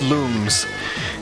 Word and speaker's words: Lums: The games, they're always there's like several parts in several of the games where they're like, these are pronounced looms.